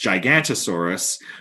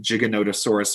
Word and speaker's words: Giganotosaurus: taking the lead now a lot of people might look at that and think it's pronounced gigantosaurus but uh there's actually a sneaky little o in there so the whole name giganotosaurus means giant southern reptile